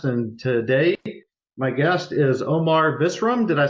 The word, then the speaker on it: Omar Visram: And today, my guest is Omar Visram.